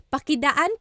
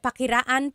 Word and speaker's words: pakidaan: Or, yes, Hallie said pakiraan po. Same thing. Pakidaan, pakiraan po. The R and the D sound are interchangeable because they were represented by the same symbol in the baybayin alphabet.